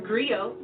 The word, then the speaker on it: griot: share that history with you agree oh it's pronounced griot for English agree eyes it's the West African